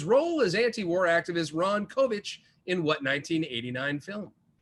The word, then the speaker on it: Kovic: as anti-war activist Ron Kovic in what 1989 film? That's K-O-V-I-C, if I'm mispronouncing it. Pretty sure it's Kovic, though.